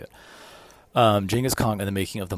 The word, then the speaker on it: Genghis Khan: From from people that from historians that I read and audiobooks I listen to, it's always pronounced Jenaskhong. So, that's how I'm going to say it. Um, Jenis Kong and the making of the modern world by Jack Weatherford.